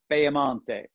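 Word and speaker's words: Piemonte: major wine regions or you could also pronounce it the way the italians pronounce it peyamante and if you can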